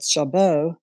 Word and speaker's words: Jarboe: The accent that I pronounce it, is the accent is on the second syllable, so it's Jarboe, but no one ever pronounces it correctly.